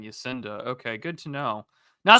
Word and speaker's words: Jacinda: manufacturing works yeah so jakinda Arden what do they call her mama jakinda is that really how it's pronounced Jacinda yeah I think so oh really I've been saying Jacinda okay good to know